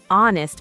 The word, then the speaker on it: honest: Marcus, what about an honest mistake? Correct. Honest starts with a silent H, so it begins with a vowel sound, an honest mistake.